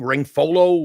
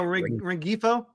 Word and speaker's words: Rengifo: Ringfolo, or I don't know how you say it. Oh, Rengifo.